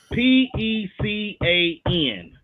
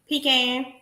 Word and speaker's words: pecan: So the word Pecan, how do you pronounce that? Pecan. Well, I want to thank you for coming out to the lounge. Wait, you say pecan? Because that's what it is. It's pecan. Pecan. Pecan. It ain't no Pecan damn pie.